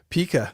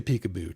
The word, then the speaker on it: Pika: from the deep south pronounces my name as Pekaboo. I could do that too if you want me to." Paou. Yeah. Now, I'm going to stick with Pika. That's quick and easy.